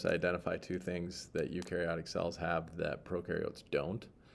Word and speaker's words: eukaryotic: remember which one's which that is pronounced you and you are eukaryotic your cells are eukaryotic